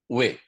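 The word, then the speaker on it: Huet: da Guarda, que foi recebido pela médium senhorita Ué, se escreve H-U-E-T.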